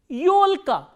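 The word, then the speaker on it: ёлка: And yo is again a combination of e kratke, which is a soft consonant, and hard vowel o, yo. Yolka, yo, l, k, a. Yolka is fir tree or Christmas tree.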